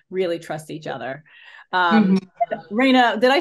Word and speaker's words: Reina: you have to really trust each other um Rayna did I say your name wrong no no okay okay I thought I